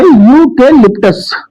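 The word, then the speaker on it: eucalyptus: ऐसे ही इसका प्रोनाउंसिएशन बच्चों होता है यूके लिप्टस। तो यह भी प्रोनाउंसिएशन या से प्रारंभ होता है।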